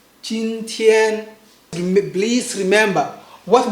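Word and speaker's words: 今天: Make sure it's flat, long, right? And also loud, right?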